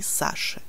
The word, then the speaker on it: Саши: On écrit I, on prononce U après la lettre Ch. C'est toujours comme ça. On Sacha, они Саши.